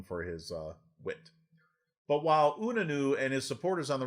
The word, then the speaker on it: Unanue: Unane's I cannot pronounce this guy's life to save my life. Unanue. Unanue is how it looks to me.